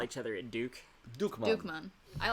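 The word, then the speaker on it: Dukkemann: also known as Dukemon. That's how it's pronounced.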